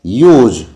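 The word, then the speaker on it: huge: Very big एक basic phrase है, advance words होते हैं यूज। एच साइलेंट रहता है।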